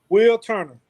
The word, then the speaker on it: Wilturner: want to make sure i say it correctly will turner will okay will turn it so this is